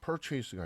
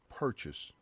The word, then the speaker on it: purchase: purchase가 아니라 purchase 이런 식으로 발음으로 끊어줘야 돼요.